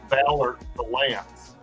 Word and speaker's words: Ballard Valance: So it's pronounced Ballard Valance.